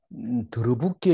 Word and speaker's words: 들러붙게: 예, 더러붙게 이렇게 읽어야 되죠. 덜러붙게 이게 안 보이. 더러붙게가 더 자연스러운 발음이에요.